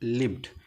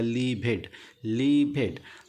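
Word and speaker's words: lived: पे दिया है लिव्ड, लिखा है लिव्ड, लेकिन जब छोटा बच्चा इसको पढ़ेगा तो पढ़ेगा लीभेड। जब लीभेड का उच्चारण करेगा तो आप उसको वहाँ बैठे रहिए, बता दीजिए नहीं बेटा लिव्ड नहीं है, लीभेड नहीं है, ये लिव्ड है।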